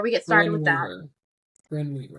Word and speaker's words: Brynne Weaver: Brian Weaver. So before we get started with that, Brynne Weaver. Brian Weaver. Sorry, I always mispronounce it.